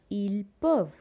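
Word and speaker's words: peuvent: one for they can for the he part we will say ill puff ent silent il perv and for a group of girls we will say el perv okay el perv the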